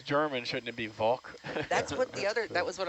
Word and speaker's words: Walke: and so they asked, how do you pronounce the name? And according to Libby Jones, thank you, Libby, the correct pronunciation is Walke.